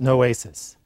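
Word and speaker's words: νόησις: The Greek is pronounced noesis.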